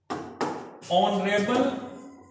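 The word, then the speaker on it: honorable: ऑन river माननीय परसों ऑन रिबेल एक ऐसा शब्द है लेकिन एक चीज जो है म्यूट राहत है उसका प्रनंसीएशन नहीं है और जो माननीय शब्द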